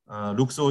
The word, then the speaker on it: 룩소르: 그래서 이쪽으로 쫙 도열해서 이렇게 쭉 이제 룩소 신전에 들어가는 이런 장소가 있고요. 여기서 조금 지금 룩소를 하고 되어 있는데 뭐 룩소라고 읽어도 상관없습니다.